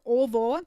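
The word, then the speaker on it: ого: So you see the endings are ovo, spelled ogo, but pronounced ovo, or oi, and then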